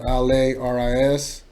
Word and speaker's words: Lari: You know, it's spelled Laris. You remove the S, it's Lari. A lot of people like to say Larry, and no, it's not Larry, motherfuckers. It's Lari. You know what I mean? It's Lari the G.